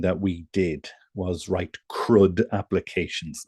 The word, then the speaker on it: CRUD: we did was write crud applications now that sounds like I'm mispronouncing crude okay but it's crud and I'll just type